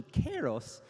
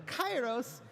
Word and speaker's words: Kairos: the Greek heritage that this is actually pronounced closer to Kairos, but we're using the ancient Greek pronunciation, which is closer to Kairos.